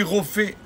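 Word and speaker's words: רופא: Mais à Kadosh Baruch Hu, on dit Rofé. Le P, il est sans le point dans la lettre fait. On le prononce fait.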